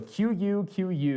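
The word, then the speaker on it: QQ: have besttech with the I believe they pronounce it Chuchu so q q is the anglicized version of it but my understanding is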